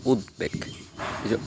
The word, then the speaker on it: উদ্বেগ: যেমন উদ্বেগ আমরা কি বলি উদ্বেগ না অনেকে উদ্বেগ বলে কিন্তু সঠিক উচ্চারণ হচ্ছে উদ্বেগ উদ্বোধন অনেকে উদ্বোধন বলে কিন্তু সঠিক উচ্চারণ হচ্ছে